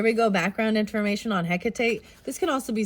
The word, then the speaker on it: Hecate: okay and read what's coming through for you Hecate and I don't know how to say I